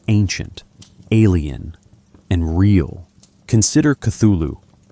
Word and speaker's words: Cthulhu: Consider Cthulhu. Lovecraft said it should be pronounced something like Cthulhu, but he noted that human vocal organs couldn't quite produce the sound correctly.